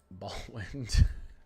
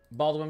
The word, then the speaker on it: Baldwin: Oh, I said ball wind. That's not how it's spelled. Oh my god. Not California. Here we go, chat. Baldwin, Wisconsin.